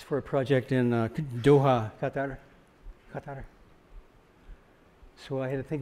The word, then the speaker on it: Qatar: Instead, it's not Qatar, it's not Qatar, it's Qatar.